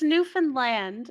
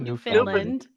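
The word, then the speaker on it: Newfoundland: Brick is New It's Newfanland. It's not New Finland. It's New Finland.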